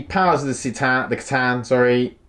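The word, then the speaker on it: C'tan: of the sita the katan sorry i keep pronouncing wrong i've got very used to saying see tan i should be saying katan so the katan um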